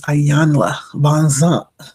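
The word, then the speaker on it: Iyanla Vanzant: been on my radar is Ayanla Bonzant. That's how she likes for you to pronounce her name.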